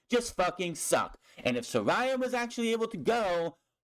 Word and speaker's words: Saraya: It's real easy. Saraya. How hard is that? Saraya. Where's Raya? I don't get why people saying Soraya. It's Saraya. Dumb.